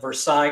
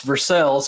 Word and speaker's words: Versailles: and, if I'm going to say this right, Versailles, Kentucky. I kept trying to call it Versailles, Kentucky, because that's the way it's spelled, French. But it's Versailles, Kentucky is how they pronounce it.